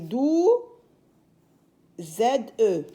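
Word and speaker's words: douze: 10 + 2 12 D avec O ou qui se lit dou Z 12 o ou nous donne le son ou 12 13 1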